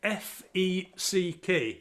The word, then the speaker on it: feck: It's spelled F-E-C-K, feck.